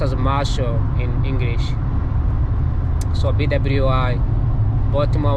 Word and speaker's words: Marshall: I used to read Marshall as Mashallah. I don't know why I did that, because Mashallah is actually an Arabic word, which I think says God bless you, something like that. Actually it's pronounced as Marshall in English.